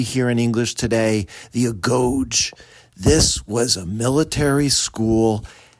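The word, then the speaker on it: agoge: You went to something that was called the go and actually we pronounce it really here in English today the a goge.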